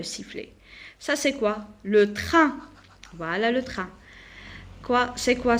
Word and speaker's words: train: Le train, AIN se prononce 1.